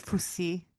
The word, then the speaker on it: Fussy: Is it Fussy?